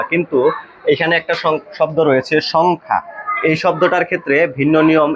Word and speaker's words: সংখ্যা: আবার বলি যদি অনুস্বারের পরের বর্ণে যদি জ ফলা হয় তাহলে এই অনুস্বারের উচ্চারণটা বহাল থাকে। সেই ক্ষেত্রে আমাদেরকে এটাকে পড়তে হয় সংখ্যা। সংখ্যা।